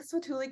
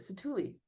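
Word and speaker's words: Satu'li: food and I think swatuli can canteen in Pandora and I always butcher the name is it satuli yeah it's a thuli canteen in Pandora literally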